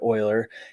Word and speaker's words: Euler: is named after a guy named euler leonard oiler and euler is often mispronounced so it's pronounced like that word euler